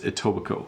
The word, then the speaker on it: Etobicoke: from tobiko Eugene says so by the way Etobicoke is close to toronto and i know it looks like a weird name of a city but it's Etobicoke that's how you pronounce it hi Bob how are you protecting